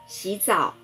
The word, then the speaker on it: 洗澡: 洗澡，洗声调第三声，澡声调第三声。洗澡，洗澡，洗澡。